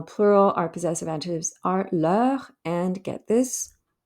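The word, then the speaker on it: leurs: our possessive adjectives are le and get this they're pronounced exactly the same but the second one gets an s at the end because it's plural hopefully that will make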